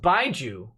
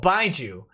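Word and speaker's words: baijiu: It's pronounced Baiju. Oh, Baiju.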